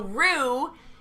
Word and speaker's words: Roo: So Rue, and Can it's you like spell that? ROO. Like kangaroo.